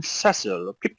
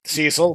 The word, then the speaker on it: Cecil: entire you know oh I'm cesil Cheerio it's like very Bri like wow it's like uh supposed to be Cecil but you know what fine I mean that's at least a legit English pronunciation of the name still better than tetus